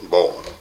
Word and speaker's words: bowline: Bow line, pronounced B-O-W, or pronounced actually, spelled B-O-W-L-I-N-E, bow line, like bow of a boat.